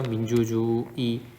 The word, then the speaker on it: 민주주의의: 민주주의 보면은 여기서 민주주의의 이렇게 발음해도 되고 혹은 민주주의에 이렇게 발음이 된다는 거죠.